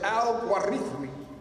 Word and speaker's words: al-Khwarizmi: The word al-Khwarizmi, transliterated al-Gorithmi or al-Gwarizin, pronounced in the classical Arabic as al-Gwarithmi, where the Latin transliteration of his name, algorithm, is derived, hence algorithm.